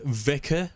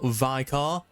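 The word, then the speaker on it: Vicar: We Go Again by the way guys it's pronounced Vicor not viar you fools everything else is pretty good though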